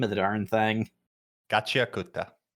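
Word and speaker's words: Gachiakuta: Oh gosh, I can't even pronounce the name of the darn thing. Gatchiakuta. Gatchiakuta.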